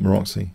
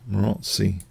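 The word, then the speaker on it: Maróczy: I said something Maroczy bind. Maroczy bind. I've been told off in a recent video. Maroczy. Told off. Not Maroczy. Maroczy.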